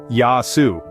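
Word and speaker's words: γεια σου: greeting each other with a hearty Gayu pronounced yasu so what do you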